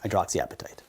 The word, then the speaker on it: hydroxyapatite: It's called hydroxyapatite. Not like your hunger, it's spelled a little different, but hydroxyapatite. Then we're going to explore a lot the utility of rank ligand, and NF-kappa B.